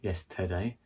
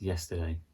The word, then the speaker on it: yesterday: It's not yesterday, it's yesterday. Today.